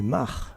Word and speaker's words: Mach: Ernst Mach, que l'on doit prononcer Mach, un physicien autrichien, avait réussi à photographier les premières ondes de choc et les avait photographiées sur des obus.